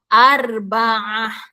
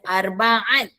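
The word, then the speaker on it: أربعة: Seterusnya nombor empat. Arbaah. Ha arbaah. Bukannya arbaat. Okey. Bukannya arbaah. Itu huruf ain bunyi a sikit.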